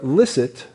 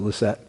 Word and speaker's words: licit: admit that you were licit to Caesar, L-I-C-I-T, licit to Caesar. Some people pronounce it licet, but it's licit to Caesar.